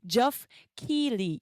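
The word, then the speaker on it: Geoff Keighley: Donc les Game Awards, ça a été créé en 2014 par le monsieur que vous voyez à l'écran qui s'appelle Jof Keily. C'est comme ça qu'on prononce.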